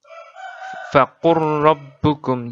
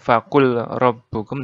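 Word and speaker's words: فقل ربكم: Di Al-An'am 147, faqur rabbukum. Jadi bukan faqul rabbukum, tapi faqur rabbukum.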